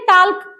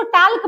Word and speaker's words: talk: इसको पढ़ना चाहिए टाक। ऐसे देखने में लग रहा है कि इसको टाक पढ़ा पढ़ा जाएगा। लेकिन नहीं इसको पढ़ेंगे टॉक। एल का हम उच्चारण ही नहीं करेंगे।